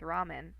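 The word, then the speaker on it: ラーメン: So this means that it's a long A sound.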